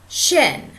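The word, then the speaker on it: שין: Shin is also sin. Is spelled S-I-N. Sin, but it's really pronounced shin. And it's spelled shin in Hebrew.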